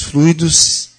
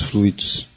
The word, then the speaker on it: fluido: Fluido ou fluído? Nondonde é a sílaba tônica. São duas palavras aparentemente semelhantes e na grafia, mas tem significados diferentes. Uma é substantivo, outra é verbo. Fluido, com acento tônico no fluido.